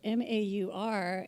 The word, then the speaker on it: Maur: His name is spelled M-A-U-R, and when we were asking how to pronounce it, he said it's Maur, as in Maurice.